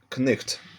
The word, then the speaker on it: Knecht: It is spelled with Knight, and it used to be pronounced knecht as well. So it's like in German it is knecht.